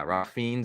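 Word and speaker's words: Ralph Fiennes: that movie Ralph fiends the red dragon yeah ra fiends and um I don't think that's how you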